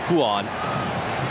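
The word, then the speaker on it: Ruan: ball brazilian portuguese yes it is spelled with an r and is pronounced with sort of an h sound huon 25 year old right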